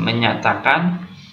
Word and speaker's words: menjatakan: Nah, ejaannya pun menggunakan ejaan lama, menjatakan. Nah, tapi membacanya dengan menyatakan kemerdekaan Indonesia.